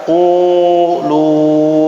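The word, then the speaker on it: قولوا: Contoh di sini adalah qulu. Jadi bacanya agak dimonyongin sedikit mulutnya ya.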